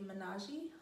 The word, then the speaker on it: Menaji: a special discount it is going to be menage harley m-e-n-a-j-i harley is spelled h-a-r-l-e-e thanks guys bye